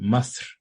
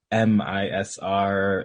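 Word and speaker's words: مصر: It quite clearly comes from, in Egyptians pronounce it masr, but like it's like MISR, MIZR, kind of that.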